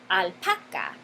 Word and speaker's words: alpaca: La palabra alpaca tiene su sílaba enfatizada, su sílaba tónica, aquí, la penúltima sílaba, alpaca.